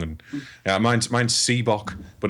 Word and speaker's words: Sebok: Yeah, Sebok. So it's like Reebok with one E and an S instead of an R.